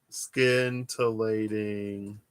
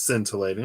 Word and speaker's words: scintillating: or something like that skin tillating peaches razz berry rain it is scintillating i was like sc you don't pronounce the c as a heart maybe not am